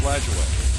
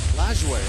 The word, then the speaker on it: Lajoie: How did he pronounce his name? I think it was Lajoie. Lajoie, okay.